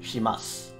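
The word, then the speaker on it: します: like here we have shimasu but typically when you pronounce it it's shimasu the the u sound gets dropped and like words like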